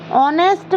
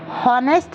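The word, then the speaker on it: honest: ऑनेस्ट को कभी भी हॉनेस्ट नहीं पढ़ा जाता। हॉनेस्ट एच से वो शुरू हो रहा है, लेकिन एच यहाँ पर साइलेंट है, इसीलिए हम ऑनेस्ट पढ़ते हैं और ओ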